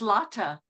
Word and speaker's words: Lotte: Lotte, and it's Yes. pronounced Lotta.